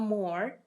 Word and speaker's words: m: And M is pronounced as Mo, Mo.